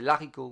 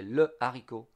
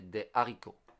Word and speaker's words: le haricot: And there is no liaison, so we don't say des haricots, we say des haricots.